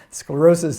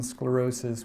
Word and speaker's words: sclerosis: English word again but sclerosis in Greek is spelled with an SK and it means hardening or stiffening in Greek and there's